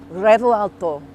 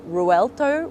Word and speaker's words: Revuelto: I've got the key to the brand new Revuelto. That's kind of how you say it, but not really. You're meant to roll the R, but I can't roll R's.